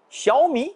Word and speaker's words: Xiaomi: voilà l'inspiration x pour xiaomi devenu deuxième constructeur mondial pendant le plus de smartphones en 2021 x ampigny se prononce comme ch en français il signifie petit en chinois me c'est le riz schumi c'est petit rire autrement